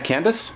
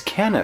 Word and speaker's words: Canis: Not Candace? No, it's Canis. It's Canis.